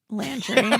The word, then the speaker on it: Landry: Landry.